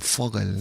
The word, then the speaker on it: Vogel: Que se dice, creo, se escribe con V, pero creo que se dice casi que con F, ¿no? Ahí con Foggel, ¿no?